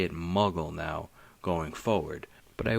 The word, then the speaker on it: muggle: first read Harry Potter I pronounced it mugle like bugle the the chips I don't even know if those chips are still around and then when the movies came out and it was muggle I was like H